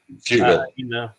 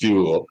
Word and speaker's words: Fugal: so I'm like, yeah, Frugal. you guys are. He's not frugal at all. But oh, did I mispronounce his name? Yeah, you said frugal with the R. It's fugal. Frugal. Fugal. Yeah.